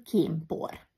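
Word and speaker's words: kénpor: n kiejtésben mmé válik például kémpor ez leírva kén por de kiejtésben n helyett met fogsz ejteni ha az n a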